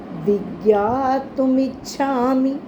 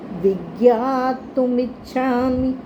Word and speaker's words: विज्ञातुमिच्छामि: विज्ञातुमिच्छामि, हमने इच्छामि म को लंबा नहीं करना, छोटी की मात्रा है। विज्ञातुमिच्छामि भवन्तमाद्यं, विज्ञातुमिच्छामि भवन्तमाद्यं।